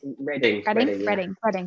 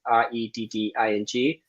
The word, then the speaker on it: Reading: In Reading. Reading. It's spelled Reading though, apologies. Which is a funny story. It's actually someone when the town was meant to spell Reading, so Redding, and the sign writer misspelt it, and that's why it's called Reading.